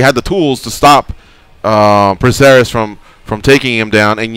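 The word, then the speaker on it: Prazeres: had beat, man, but Michael, what is it, Praceres? Is that how we pronounce his last name? Yeah, Michel Praceres.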